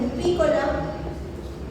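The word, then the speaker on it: Rupicola: Este es Rubricula, no lleva tilde, tiene acento, pero no tiene tilde, ¿verdad?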